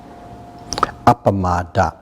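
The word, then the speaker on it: appamāda: that's what heat fulness in Pali it's pronounced up a Matta that what is very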